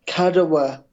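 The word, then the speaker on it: Kadıoğlu: o g l u it's I think it's kadawa kadawa right okay so kadawa in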